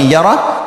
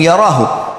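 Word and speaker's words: يَرَهُ: Wa may ya'mal mithqala dzarratin syarran yarah. Kalau diberhentikan bacanya yarah, tapi kalau dibaca langsung yarahu.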